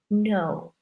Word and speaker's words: know: first example to know it looks like cano but we don't say the K it's silent that's why I wrote it in red n 0 W I would say no so no no do